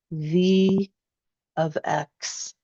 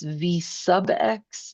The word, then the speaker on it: V(x): Now, when you pronounce these out loud, right, please don't call this V sub X and please don't call this M sub X.